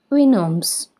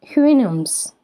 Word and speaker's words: Houyhnhnm: How is the name Houyhnhnm, Jonathan Swift's Rational Horses in Gulliver's Travels, pronounced? Who-who-moose, Winims, Winims, Woohooms? Guess the answer. The correct answer is Winoms. Winoms.